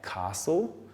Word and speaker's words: castle: silent so we've got common words like Castle the T is silent also Christmas we've got